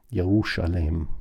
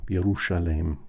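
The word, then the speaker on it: Ἰερουσαλήμ: And I believe that first century Jews would have pronounced this as a sh sound. Yerushalem, Yerushalem.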